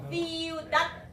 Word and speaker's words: ciudad: ciudad 혹은 ciudad 닫는 발음입니다. 세 발음 세게 해주세요.